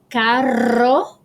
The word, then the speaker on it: carro: a second all right double r um this is makes a rolling r sound which we don't have in english and um example is carro so caro means car